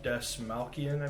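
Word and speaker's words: Dastmalchian: David Desmalkian, I believe is how you say his name.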